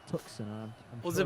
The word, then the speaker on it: Tucson: What, you can't have a silent C. No one in English is allowed to have a silent C. I don't know. Tucson. No. If the C is silent, it's after the S. But it's before the S.